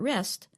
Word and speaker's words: wrest: means to rest when you are tired but rest w s means to grab something or take